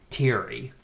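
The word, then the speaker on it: Thierry: Terry that was like teary yeah I mean I guess it's pronounced it's pronounced Terry but it's the French obviously a heroin addict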